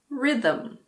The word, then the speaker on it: rhythm: Similarly, if a word starts with RH, the H is silent. Like in rhinoceros or rhythm.